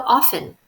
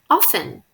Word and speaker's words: often: use the words how often in an information question notice that I said often even though there's a T here so lots of Americans say often now other people say